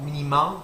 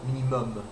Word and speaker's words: minimum: This one is not minimum, but minimum. Minimum, almost the same as in English.